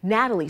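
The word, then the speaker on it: Gnatalie: Natalie spelled with a G because of the stinging gnats that pestered excavators.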